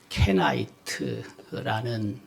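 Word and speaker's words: Kenite: 우리가 겐 족속이라고 발음하는데, 겐이라고 발음하는데, 영어로는 케나이트라는 단어를 사용합니다.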